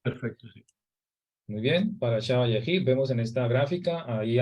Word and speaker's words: ויחי: la paracha número 12, Vayehi, que se escribe con las letras Vav, Yod, Het y Yod. Va, Ye, Hi.